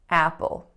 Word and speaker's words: Apple: we have Apple Apple so again there's a dark L at the end of this word which is very very particular but also I want you to pay attention to the tension in the first vowel so it is not a pure up sound I'm not saying Apple I'm saying ah Apple Apple next up number three